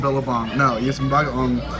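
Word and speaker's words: bagoong: Billabong. You eat it with some billabong. No, you get some bagaong.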